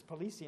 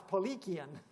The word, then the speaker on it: Paulicians: in turkey in the armenia they were called Polly qian's I used to pronounce this policy and then when we got over there to Serbia they said no it's Polly kyun ok so and they spelt with a k